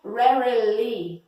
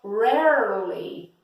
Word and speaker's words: rarely: Esse segundo R do rarely, ele quase não é escutado, ele é tão sutil que não é muito escutável, yes?